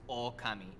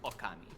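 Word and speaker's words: 狼: So like the O at the beginning is short in the word for God, and it's long in the word for wolf. And that just means that it's pronounced slightly longer.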